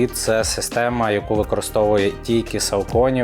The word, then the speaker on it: Saucony: Особисто я називаю цей бренд Сауконі, але говорять, що правильно соконі.